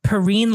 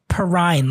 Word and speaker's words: Perrine: And it's pronounced Perrine like Perrine, like fine or wine.